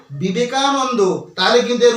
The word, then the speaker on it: বিবেকানন্দ: আমরা উচ্চারণটা করছি বাংলাতে এই বিবেকানন্দ উচ্চারণের সময়তেও আমাদের একটা ভুল রয়েছে সেই ভুলটা কোথায় দেখো আমাদেরকে এই সহজভাবে বিবেকানন্দ উচ্চারণ করলে চলবে না আমাদেরকে কিভাবে উচ্চারণ করতে হবে আমাদেরকে উচ্চারণ বিবেকানন্দ এভাবে বললে চলবে না কিভাবে বলতে হবে আমি দেখাচ্ছি দেখো বিবেকানন্দ বিবেকানন্দ অর্থাৎ এই বিবেকানন্দ মধ্যে ওয়া উচ্চারিত হতে হবে আমি একটু আগে কি